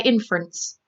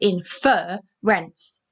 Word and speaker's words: inference: say in fur rents i say inference it doesn't have double r because we do not stress the fur so i'm going to read it again inference i don't say infer rents so if the fur is stress when you read it you double the r if it is not stressed when you read it you do not double the r and you just add